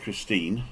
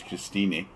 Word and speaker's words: Christine: name's this is Christine it spelled like Christine with an e but we pronounce the e in German don't we and if you've come